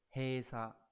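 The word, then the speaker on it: 閉鎖: Thì chữ đầu tiên là chữ bế, chúng ta được học ở N4 rồi, rất là quen thuộc, đọc là he. Chữ còn lại là chữ tỏa đúng không, đọc là sa. Như vậy chữ này chúng ta sẽ đọc là gì nhỉ? He sa.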